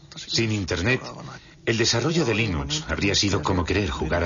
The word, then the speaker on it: Linux: La primera pregunta de la categoría fácil es, ¿cómo se pronuncia Linux? Bueno, yo Linux lo pronuncio Linux. Sin embargo, si fuese Linus Torvalds, no hay duda de que lo pronunciaría Linux. Claro que si uno es de la costa oeste de los Estados Unidos, lo más seguro es que lo pronunciaría Linux. Pero a Linus Torvalds le importa un bledo cómo pronunciéis Linux siempre y cuando lo utilicéis.